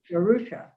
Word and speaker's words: DeRusha: DeRusha. Is it D-E-R-U-S-H-A? Yes. Perfect. And? Yeah, Spell it for me.